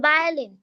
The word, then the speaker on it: violin: B for violin. Violin. X বা বা ভায়োলিন। violin. বা W বা ইয়ের মতো উচ্চারণ হবে, ব আসবে না, ভ আসবে। হ্যাঁ, ভায়োলিন।